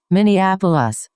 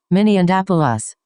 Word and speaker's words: Minneapolis: I just asked if you did live in Minneapolis and I'm sorry, but it's pronounced Minneapolis, not Min and Appalas.